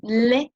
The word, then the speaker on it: les: le, you would say les tables, no, nothing in between. You do not pronounce that S, right? You write it, but you do not pronounce it because it starts with a consonant.